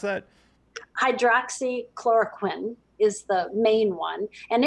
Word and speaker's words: hydroxychloroquine: I was going to ask you about how do you pronounce that? Hydroxychloroquine is the main one.